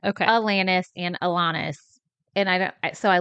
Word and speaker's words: Alanis: I said Alanis and Alanis. And so I looked it up. The correct way to say it is Alanis.